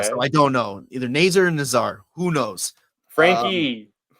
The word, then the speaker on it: Nazar: saying it wrong the whole time is it ner that's what that's what they've been saying it like on the yeah on the broadcast yeah so I don't know either ner or Nazar who knows Frankie going to the